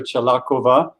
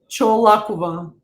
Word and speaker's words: Cholakova: So I'm Sifu Slim, and I've been talking with Chalakova about say my name right. Cholakova. Cholakova. Cholakova, not Chalakova.